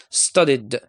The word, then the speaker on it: studied: try tried continue continued we have also the verb study it'll be studied I can't pronounce it as IDI or be studied and this is wrong so I say studied okay so these are